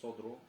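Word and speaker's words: الصدر: Не син, а сод. Содру.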